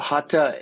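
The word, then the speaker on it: Hatha: ha yoga the the th is is not pronounced like we would say theistic or you know it's it's just an aspirated tea hat yoga so uh that's another kind of yoga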